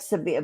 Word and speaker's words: Sabina: Washington Courthouse, Clarksburg, um, That means Sabina, that means Sabina.